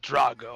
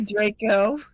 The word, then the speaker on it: Drago: feel my ears burnt it's pronounced Drago I don't in my soul I feel someone mispronouncing it okay Draco Draco what not people mispronounce